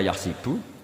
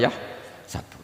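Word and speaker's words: يَحْسَبُ: Karena dalam qiraat sab'a ada yang baca yahsibu, qiraat kita baca yahsabu.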